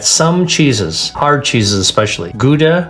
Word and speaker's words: Gouda: cheeses, hard cheeses especially, Gouda cheese or Gouda cheese is how the Dutch pronounce it, Jarlsberg cheese, Emmentaler cheese,